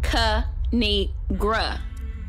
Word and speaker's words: Kinigra: a before Pig four Peak the three is pronounced kanigra now subscribe oh I crack myself up thanks